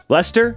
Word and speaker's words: Leicester: Apparently her mother got together with her father at a party in Leicester, is that how you pronounce it?